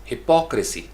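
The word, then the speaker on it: hypocrisy: यानी पी ओ सी, उसके लिए पढ़ेंगे हिपोक्रेसी। आपने अक्सर ये लफ्ज़ इस तरीके से प्रोनाउंस करते हुए लोगों को सुना होगा, यानी हिपोक्रेसी नहीं है, हिपोक्रेसी, हिपोक्रेसी, पी ओ सी के ऊपर स्ट्रेस है, लाउड, स्ट्रेस का मतलब थोड़ा सा लाउड किया, हिपोक्रेसी, हिपोक्रेसी, democracy, photography, photography.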